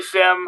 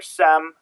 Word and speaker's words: SIEM: So, I'm I say Sim. I hear a lot of people say Sim or Sem. So, it's not a big deal.